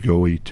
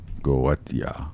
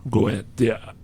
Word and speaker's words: Goetia: supposedly outlines in this, the Goethe, or Gotha, whatever, however you pronounce it. Galada, I think, was it? Galada? It's Goetia. Goetia.